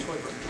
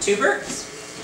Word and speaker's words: Teuber: It's pronounced Teuber. Two Burkes? Klaus Teuber. Turbits?